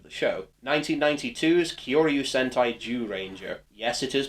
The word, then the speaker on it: Zyuranger: 16th incarnation of the show, 1992's Kyoryu Sentai Zyuranger. Yes, it is pronounced like that.